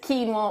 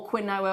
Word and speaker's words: quinoa: either couscous or pasta Oh quinoa or Quinn our or however you want to pronounce it and nor is it